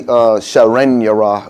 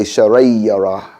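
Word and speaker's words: شرا يره: We don't say Sharan Yara, we say Sharay Yara. And that's a noon sakin with a ya behind it.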